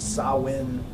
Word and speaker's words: Samhain: the Celtic tradition of sow in and expelled super-weird is spelled Samhain but it's pronounced saw win so that's what we